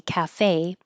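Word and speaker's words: café: it like an a, cafe, then it's usually a word from French and we're maybe not using the accent mark, but we're pronouncing it that way.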